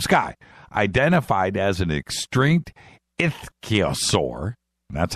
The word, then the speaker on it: ichthyosaur: Identified as an extinct ichthyosaur, that's how you say it, I checked it